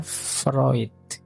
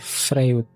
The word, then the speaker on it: Freud: Yang banyak disebut orang berpengaruh tentu saja ee gagasan psikoanalisisnya Freud. Ini tulisannya Frewood. Biasanya kalau mahasiswa baru membacanya masih frywood gak apa-apa.